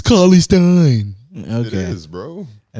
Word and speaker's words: Cauley-Stein: Cauley-Stein. Cauley-Stein. It's Cauley-Stein.